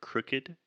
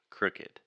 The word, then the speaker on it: crooked: talk about the word crooked crooked first this is what we call the other you sound the vowel is a crooked crew crooked so a crook it's